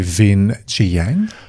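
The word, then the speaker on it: Vinh Giang: Do you know Vin Jiang?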